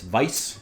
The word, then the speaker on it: Weiss: lining kugels Berry Weiss which is I guess Vice when you use the proper German pronunciation which for Warhammer seems